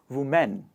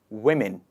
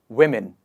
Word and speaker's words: women: e n is pronounced as men so people pronounce this word as women women but that is not the correct pronunciation the correct pronunciation is changes to women one more time women next one in the list is comfortable how